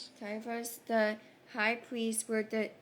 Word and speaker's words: Caiaphas: Verse 57, "And those who had laid hold of Jesus led him away to Correct pronunciations as Caiaphas. Caiaphas the high priest where the scribes and the elders were assembled.